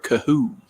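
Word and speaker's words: Kohou: Cater Kohu on the tackle. No chance I pronounced that correctly. It's Qatar Kahoo.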